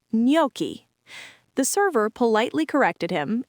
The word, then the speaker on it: gnocchi: Gnocchi is Italian and pronounced gnocchi.